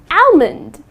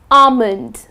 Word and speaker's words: almond: to pronounce it as almond I would like to eat five almond that's incorrect the correct pronunciation is almond ok almond ok so the L is silent another word that I